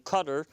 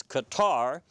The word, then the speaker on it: Qatar: flurry of activity involving cutter normally mispronounced as Qatar and Saudi Arabia and